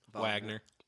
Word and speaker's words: Wagner: what's prosan group again Wagner yeah it's spelled Wagner I mean they're uh pronounced like the composer I think would that